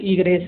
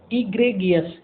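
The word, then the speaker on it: egregious: कुछ तो बोले ईग्रेस, नहीं आप बोलोगे इसको ईग्रेगियस।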